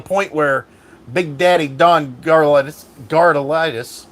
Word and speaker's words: Garlits: where Big Daddy Don Garlits Darda lightest why do I keep on saying his name wrong Garlits god why did I say car lightest Garlits Big Daddy Don